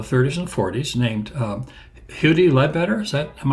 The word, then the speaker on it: Huddie: first name correctly yes there's no no total agreement about it but he seemed to pronounce it somewhere between muddy and Hoodie so yeah I had